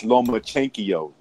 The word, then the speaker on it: Lomachenko: You're saying it wrong. You got to say it the way he says it. It's Lomachenko.